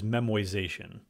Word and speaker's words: memoization: a method known as memoization no that's not a misspelling or mispronunciation it's the basic idea